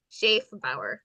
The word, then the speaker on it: Schaefbauer: Sha Bower.